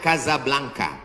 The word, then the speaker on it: Casablanca: kuliah nama negaranya Maroko ibukotanya tulisannya Casablanca cara bacanya Kasablanka Kaza artinya rumah blanka